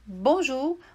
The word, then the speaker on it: Bonjour: palavra e já com essas dicas vai saber pronunciar de imediato né então por exemplo a primeira dica a palavra Bonjour né bom Ju você tem aqui na escrita em francês eo